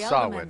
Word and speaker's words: Samhain: I'm like, that's not how that's pronounced. It's an old, I believe it's Gaelic. And it is pronounced Samhain.